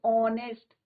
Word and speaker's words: honest: यहाँ पे कुछ एग्जाम्पल्स ये हैं, एन आर, एन ऑनेस्ट man, vowel sound आ रहा है बच्चों, ऑनेस्ट, are, young boy, right,